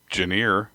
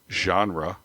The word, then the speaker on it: genre: it you might not guess know how to pronounce it I used to say it janer instead of genre oh really yeah oh man I couldn't imagine